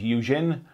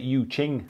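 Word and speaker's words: Yu Jing: He's starting on his Eugene. I think it's like Yu Ching, actually, how you pronounce it.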